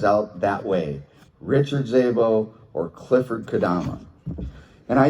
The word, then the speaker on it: Szabo: out that way, Richard Szabo or Clifford Kadama. And I used to always remember Richard saying, she used to pronounce his name wrong, last name. And she said, "It's Szabo. It's a silent S, like special, and then Z-A-B-O.